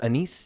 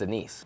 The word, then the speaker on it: anise: And no matter the flavor, they're always called anise flavor.